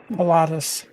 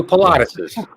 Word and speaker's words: Pilates: I guess that's okay patus I said patus I I gave it an extra syllable I it not like some sort of exercise that women always go to peses you do Pilates yeah you know yeah